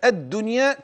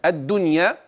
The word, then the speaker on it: الدنيا: النون فقط فانتبه لهذا اي النون الساكنه ان وقع بعدها ياء في كلمه واحده ده كما منا في كلمه الدنيا اذا يجب الاظهار السؤال لماذا تظهر هذه النون ان وقعت في كلمه واحده حتى لا تلتبس بالكلمه المضعفه لا افهم جميل ان